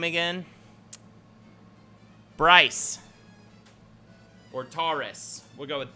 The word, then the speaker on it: Bryce: Bryce rhymes with slice.